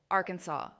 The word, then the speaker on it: Arkansas: Oklahoma from two Chakaw words Oklahoma people and Huma red people Arkansas a French version of the quapa trib's name the s is silent Louisiana named for king